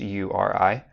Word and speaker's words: URI: It's actually an acronym and it stands for uniform resource identifier. That's why it's pronounced URI, just as a quick side note.